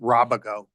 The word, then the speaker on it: Robago: So Yeah, so just first, as a point of ego, I pronounce it Robago. That's okay. It's from Spain.